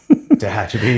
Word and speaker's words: Tehachapi: In 96, you transferred to Tehachapi. Tehachapi, yeah. Tehachapi? Glad I sort of pronounced that right.